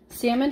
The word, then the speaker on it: salmon: understand but it's okay salmon has an L but it is silent it is not pronounced